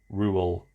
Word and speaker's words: Reuel: j.r.r stand for in JRR Tolkien's name it is John Ronald Reuel REU e L rule I think that's how you say it could be wrong but